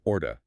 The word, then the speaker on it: ought to: Ought to blurs together into what sounds like orta, O-R-T-A.